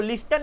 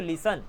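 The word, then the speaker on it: listen: टी ई एन तो एस टी में वहां पर टी साइलेंट है आप सिंपल बोलते हो लिस्टन नहीं बोलते आप बोलते हो लिसन ठीक है ना आप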